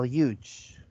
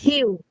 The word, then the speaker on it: huge: This is how you spell huge. Like big, huge. Hue. Yeah. Hue. Yes, I understand. Yeah. Error. Hue. Huge. Big. Yeah, not hue. It's huge.